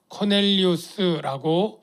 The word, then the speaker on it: 코넬리우스: 고넬료가 누군가 하면 먼저이 고넬료는 아 코넬리우스 발음하는게 더 맞겠습니다 왜냐면이 사람은 마인입니다 그니까